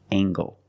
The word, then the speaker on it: angle: is a right angle use the nasal plus the hard gang angle this is a right angle let's look at more